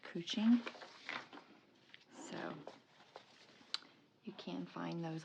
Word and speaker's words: couching: couch like c u c h but it's pronounced cooing so you can find those on Amazon but